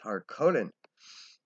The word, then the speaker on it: Harkonnen: It's Harkonnen.